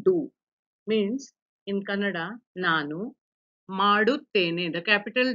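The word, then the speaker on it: ಮಾಡುತ್ತೇನೆ: Don't read it as madutane. It is maduttene.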